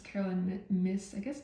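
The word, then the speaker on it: Caroline Myss: Yeah, this is Carolyn Miss, that's how you pronounce it.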